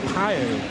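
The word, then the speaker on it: Pijl: Yeah, his surname is spelled P-I-J-L. So it's pronounced, I think, something like Pio. So Arrow is a lot easier to say because in Dutch, P-I-J-L means arrow.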